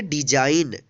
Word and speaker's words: design: DESIGN, इसको पढ़ेंगे डिजाइन। डिजाइन means होता है नमूना। यहाँ पे भी देखिए एन से पहले क्या आया है, जी आया है, इसलिए जी का उच्चारण नहीं हुआ है।